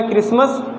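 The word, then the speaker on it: Christmas: तो ये हो गया क्रिसमस। उसके बाद मेन चीज़ मेरा क्या है कि ये बताने का एम है कि इसमें क्या साइलेंट है, यच लेटर साइलेंट है।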